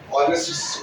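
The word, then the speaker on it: honest: ऑनेस्ट word को जब आप पढ़ते हैं तो उसमें एच साइलेंट होता है, एच नहीं सुनाई देता है यानी साइलेंट होता है। तो जब आप पढ़ते हैं इसको तो ऑनेस्ट पढ़ते हैं, ऑ से शुरू होता है और ऑ जो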